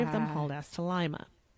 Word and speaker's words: Lima: I know it's pronounced Lima and not Lima like it's spelled well you know like lima beans lima it's pretty near